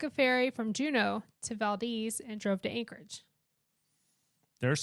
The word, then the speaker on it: Valdez: pronounce it Valdes Valdes you got to say it like a local y'all it's not Valdez it is Valdes so Valdes now that's a hall